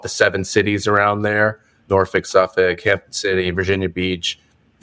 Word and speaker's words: Norfolk: Ryan taught me how to say this correctly Norfolk well done well done um yeah from an